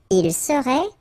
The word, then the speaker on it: serait: Il serait, final T not pronounced.